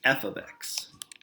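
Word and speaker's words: f(x): mean right okay well this f parenthesis x is actually said as f of x so why does everyone repeat after me f of x awesome all right say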